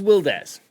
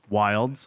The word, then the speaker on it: WilDez: let's go who was wildest how would you describe you um i would describe myself as uh firstly wildes not wilds or wild easy as a lot of